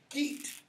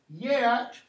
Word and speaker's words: Geat: Beowulf is what is called a Geat. And you'll hear this pronounced three different ways. Geat, Yat, or Gat. Okay? Just go with the easy one.